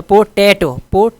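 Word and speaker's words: potato: अच्छा, पोटैटो दूसरे पर जोर है सेकंड पे, ठीक है।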